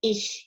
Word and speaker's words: ich: The CH can be pronounced differently with different letters, but I've picked the one for ich here, because there just is no K.